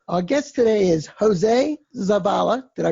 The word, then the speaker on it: Zavala: thank you Ron our guest today is jose Zappala did I pronounce that correctly yes very good Jose we're